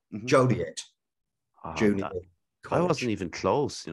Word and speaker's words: Joliet: get it uh right Joliet I wasn't even close you know that because she had Gillette I was doing that thing where the French wouldn't pronounce the T at one point and